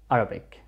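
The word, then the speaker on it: عربي: way you say iren it's a throat letter so when we actually pronounce it or say it we stress on our throat so arabi the mom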